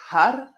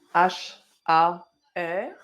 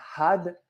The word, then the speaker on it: har: Donc har c'est h A r et on veut vraiment har que le bout de la langue touche le palais. D'accord ? Donc on peut aussi le prononcer had had. Ce qu'on veut être sûr c'est vraiment que le le bout de la langue touche juste l'arrière des dents.